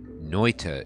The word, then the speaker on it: Noita: me information oh boy that noita is the right way to pronounce this game and it's a finnish word i think rick was